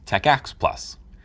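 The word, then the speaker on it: TACACS+: may come with it t-a-c-a-c-s plus pronounce Tech ax plus it stands for terminal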